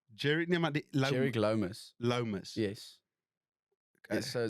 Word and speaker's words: Lomas: Lomas. Yes. Okay. So in Afrikaans dan sê ons dis nie warm is nie, dis nie koud is nie, dis Lomas. Lomas. Okay. Guys, we're here with Georic Lomas today on episode 4 of the ZYCEPS Show.